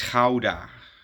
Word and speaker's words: Gouda: It's coming from me probably or what you English speakers call Gouda. It's Ka, you know, that's the that's the right pronunciation.